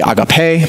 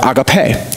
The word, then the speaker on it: agape: In that word, many of us know, you probably pronounced it agape. It's actually agape, but it doesn't matter. We don't speak Greek anyways. So it's this word agape, or agape is the right way to pronounce that.